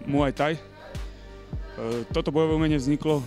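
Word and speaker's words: Muay Thai: už poveda samotný názov ktorý v tajine vlastne eh sa vyslovuje ako muaj Taj eh toto bojové umenie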